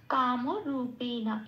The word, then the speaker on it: কামরূপেণ: কাম বলতে পারবো না, কারণ কোনো হসন্ত নেই, পূর্ণরূপে উচ্চারিত করতে হবে কাম। রূপে যেমন আছে তেমন, নটাকেও পূর্ণরূপে বলতে হবে নো বলে। রূপেন বলতে পারবো না, কারণ এখানে কোথাও কোনো হসন্ত নেই। কাম রূপেণা এটা শব্দের উচ্চারণ।